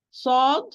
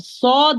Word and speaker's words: ص: And of course, it's a heavy sound or full mouth letter. And regarding the air, of there's a lot of air, so it's a voiceless. So with Sod, my dear sisters, both sound and air are running when I'm pronouncing.